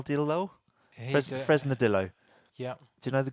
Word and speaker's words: Fresnadillo: it's Juan Carlos had to say his name Fresnel did although Fresnadillo yeah do you know the guy no is